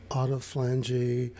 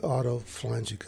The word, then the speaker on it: autophagy: The reason this is important is because there's something called autophagy or autophagy, depending on how you want to break up the syllables. Let's go with autophagy.